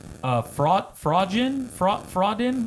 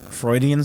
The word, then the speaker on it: Freudian: Fraudin, like, you know, they say Fraudin slip, like when your boobs pop out. Freudian slip? Freudian, there you go. A Freudian thing.